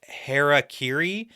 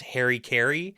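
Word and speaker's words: harakiri: Now there are some etmological differences here because the word heraciri which has been like mispronounced by like English speakers as Harry Kerry and variations of that but heri refers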